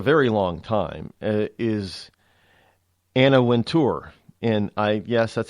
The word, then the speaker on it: Wintour: long time, is Anna Wintour. And yes, that's how you pronounce her. I watched a CNBC thing on her, and it's not Winter, it's Wintour, and that's how it's actually spelled, Wintour.